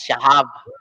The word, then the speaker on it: Shahab: It's pronounced as Shahab. In the Middle East, Spell, there's no spell. Y, there's no I. There's only in the H is sounds like alike to one another. H, I, and Y, and you have to spell it S, H, and you have to insert lem Shahab H, A, B. So Shahab. That's the proper Shahab.